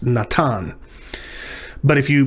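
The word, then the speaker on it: נתן: That's why I said this is pronounced Natan. But if you pronounce it that older way, Nathan, that gives you an idea of what this is.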